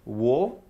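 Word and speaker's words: を: wa qui s'écrivent ha, la particule wo en fait se prononce o, bien que dans le syllabaire hiragana, ce hiragana correspond à wo. Mais dès qu'il sera pour indiquer un complément d'objet direct, on le prononcera o.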